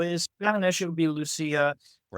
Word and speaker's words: Lucia: Her name is Lucia Fasano. Lucia. Right. So in Spanish, it would be Lucia.